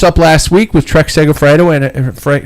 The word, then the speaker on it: Segafredo: the tour of woloni is that how you pronounce it baloney maloney uh finished up last week with trex sega fredo and frank segafreido segafredo and american quinn simmons taking the overall